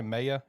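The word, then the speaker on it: Maye: any highlights of draco how you pronounced as i say maya is that how you pronounce it yeah okay yeah he's a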